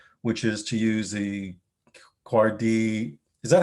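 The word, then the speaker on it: KUARD: a sanity test which is to use the cardi is that how you pronounce it by the way yeah so it's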